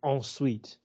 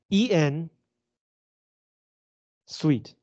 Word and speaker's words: ensuite: uh term in French is ensuite no no ensuite en sweet no okay e n s u i t e uh and it just